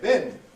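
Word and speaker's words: been: be some say Ben some people have a strong form weak form relationship between them others don't you can have them both as a strong form Americans typically have bin as their strong form well now if your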